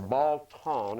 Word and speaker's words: Beltane: This one right here was Beltane, B-E-A-L, or Baltan is the way it's pronounced, B-A-L-T-A-I-N-E.